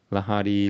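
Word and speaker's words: लहरी: It says li, it doesn't say li. So, it's not li, it's ri.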